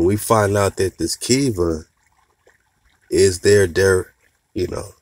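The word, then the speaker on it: Khiva: cities of go right they spell it k-h-i-v-a kiva we've been saying is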